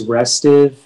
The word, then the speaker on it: restive: uh your word is restive um did we see your hands please gary oh sorry thank you justin can you give me all the information yeah so the only pronunciation is restive it's an adjective and